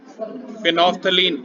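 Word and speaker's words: phenolphthalein: फिनोफ्थलीन, इसे लिखते फिनोल्फैथलीन है, पर प्रोनाउंस फिनोफ्थलीन करते हैं। स्पेलिंग में फिनॉल, PHENOL, PTHALIN।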